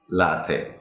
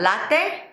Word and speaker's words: latte: So it's not latte, but Latte. That would be like what kind of? Is that as in is father. That, father. Okay. right? As in Latte. father. And not te, but te. Take. Oh, really? Right. There are never words that end with Latte. a in English. So it's probably going to be a long A sound.